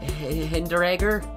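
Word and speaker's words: Hinteregger: has actually changed a bit i bought martin hinderegger is how you say it i'm just going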